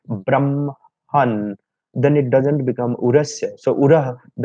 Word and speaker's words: brahman: sometimes is said that in the word brahman, so the ma has to be pronounced first and then ha.